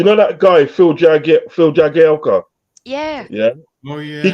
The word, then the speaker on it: Jagielka: It's pronounced Jagielka.